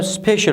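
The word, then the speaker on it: special: مثال یې په سپیشل لغات کښې واضح شوی دی. تاسو ورته ګورئ CIAL په پای کې راغلی دی. دا څه رقم تلفظ کوو؟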